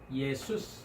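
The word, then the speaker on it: Ἰησοῦς: 우리가 말하는 이제 한글로는 예수, 영어로는 이제 지저스라고 하죠. 그래서 헬라어 발음은 예수스 합니다.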